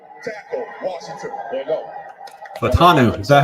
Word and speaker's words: Fautanu: Fatanu. Is that how you say it? I've been saying Fontenot this whole time. Fatanu.